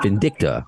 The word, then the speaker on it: Vindicta: to make that all right on and I mispronounced it how how do you say it the name of the movie vcta vindicta okay I don't know why I'm adding a